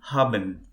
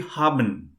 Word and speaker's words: haben: make a mistake so for example haben if we go by the words we'll call it as haben but in german it will be harban haben yeah uh may i